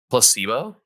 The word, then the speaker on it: placebo: you pronounce that word it's like place and then boo Placebo yeah that I thought